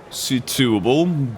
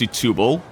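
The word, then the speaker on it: Setúbal: Setubal, that's how they told me it should be pronounced, Setubal.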